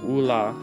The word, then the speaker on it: Oola: And if you're curious about how my name is pronounced, it's Oola.